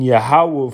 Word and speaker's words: Yahweh: If you pronounce that properly in the Hebrew, that's Yahweh, Ba Yahweh, which means in Yahweh, Adya meaning forever, which means forever, Kaya for Ba Yah.